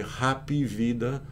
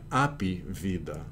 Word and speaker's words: happy: Some will say happy vida, some will say happy vida. Com H mudo, né? With or without the H. But either way, notice you don't need to spell it H-A-P-P-Y, because Brazilians already put the E.